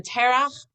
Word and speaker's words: Terach: When Terach, that's how it's said in Hebrew, returned, he asked Abraham what happened to all the idols.